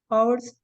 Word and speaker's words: hour: that you mispronounced right remember it's ours SRA so and an orange an apple yeah hour okay that is the pronunciation thank you very much